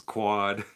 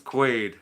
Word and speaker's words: Quaid: Because it was Quad. Yeah. Nope, it's Quaid. Like Dennis Quaid.